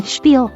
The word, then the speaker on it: spiel: spelled with an sh the pronunciation for Spiel allows for either Spiel Oriel the shiel pronunciation is significantly more common where I live American Midwest and I'm